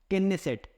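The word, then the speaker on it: Knesset: क्या नाम है केनेसेट, के से याद रखिएगा, के साइलेंट नहीं इसमें।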